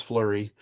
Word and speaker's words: Fleury: his name is Flurry. My name is Oh. Flurry. That's spelled Fleury. It means flowery.